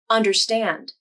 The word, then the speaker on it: understand: Let's look at the 3-syllable word understand.